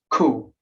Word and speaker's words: coup: I was like, how to pronounce this word? Like, and then it was like just cool.